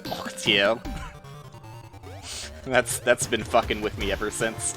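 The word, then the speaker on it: Orteil: uh the cookie clicker guy his name is pronounced audio that's that's been with me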